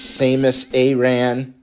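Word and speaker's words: Samus Aran: power samus a ran i always say it wrong according to mike the traffic so i know now that it's samus a ran um yoshi with the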